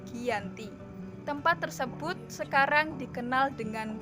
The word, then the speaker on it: Giyanti: pada 13 Februari 1755 nama Giant di diambil dari lokasi penandatanganan perjanjian yaitu di desa Janti dalam pelafalan Belanda ia tersebut sebagai Giyanti dan secara tertulis ia terbaca sebagai Giyanti tempat tersebut sekarang dikenal